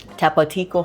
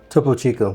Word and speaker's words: Topo Chico: What was it? Tapatico. How do you say it? Topo Chico. Topo Chico.